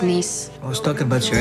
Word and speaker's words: Nice: It's pronounced niece.